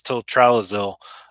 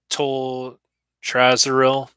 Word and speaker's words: toltrazuril: Uh, Basically, it's tiltralazil, and we'll get into that next week. Tiltralazil, toltral, or excuse me, toltrazuril. I was pronouncing it incorrectly.